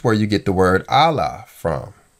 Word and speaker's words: Allah: You have the A sound with Aleph and the L sound with Lamed. When you put those two together and make a two-syllable word, you come up with Allah.